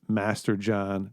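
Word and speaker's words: Masterjohn: a t TI a or Chris Master John just like it's spelled those two guys are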